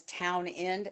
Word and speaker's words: Townend: He's British and his name is Town End and I'm like did they leave the S out accidentally?